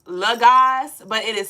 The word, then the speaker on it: Logas: So it is pronounced Laz, but it is spelled low gas.